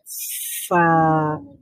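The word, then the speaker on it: ف: উচ্চারণ করব ফা, ফা, ফা। আচ্ছা, তো ফা এর মাখরাজটা কি বলেন? উপরের দুই দাঁত নিচের ঠোঁটের ভেজা অংশে লাগবে।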